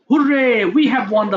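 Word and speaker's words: hurray: থ্র four বলে না ওই ওয়ান হবে এটার উচ্চারণটা হুররে ম্যাচ হ্যা আমরা ম্যাচটা জিতেছি তাহলে এইযে আবেগ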